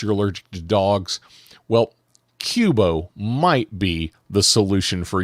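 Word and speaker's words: Qobo: allergic to dogs well Cubo might be the solution for you I I hope I'm pronouncing that right it's q o b o so I'm going to count pronounce it Qbo um it's a furry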